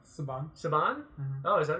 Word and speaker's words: Saban: So it's pronounced Saban. Saban? Mm-hmm. Oh, is that right? Okay. I'm not even joking. It's pronounced Saban.